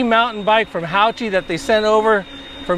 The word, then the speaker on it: HAOQI: and by the way it is pronounced howchi I verified this with them so let's check it